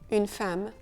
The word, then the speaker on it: femme: Dans ce cas, c'est le E-M-M-E qui prend un son très particulier, une femme.